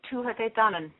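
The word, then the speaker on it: Tuatha Dé Danann: Well, different places pronounce it differently, but I would say the Tuatha De Danann.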